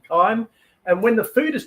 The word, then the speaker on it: chyme: Or chyme is the way we pronounce it. We pronounce it chyme, but you write it as chyme.